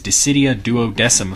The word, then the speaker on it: Dissidia Duodecim: you look at it, it says Dissidia, and then there's a number, a 012, so 12, with like a 0 in front of it, and then Final Fantasy. They're telling you the way to pronounce it is Dissidia Duodecim Final Fantasy.